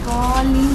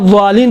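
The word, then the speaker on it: الضالين: دال جیسا ہے، دال نہیں ہے.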